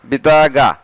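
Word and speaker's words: بطاقة: বিতাকা card বা ID card বা payment card আবার এভাবে বলে বিতাগা। বিশেষ করে আরবিরা কয়ের উচ্চারণকে গ উচ্চারণ করে, এখানে আছে বিতাকা আর গ উচ্চারণ করলে হবে বিতাগা, কার্ড বা পেমেন্ট কার্ড।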